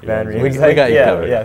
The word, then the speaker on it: van Riemsdyk: Van Riemsdyk. Van Riemsdyk.